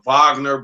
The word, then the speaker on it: Wagner: the the vag or they pronounce it well it spelled Wagner but the Vagner Brothers yeah yeah yeah so